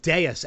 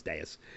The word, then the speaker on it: Deus: for that voicemail, Steve, on uh on on deas xmachina. And that is the proper pronunciation. We've been saying deuce and it's it's it is deas.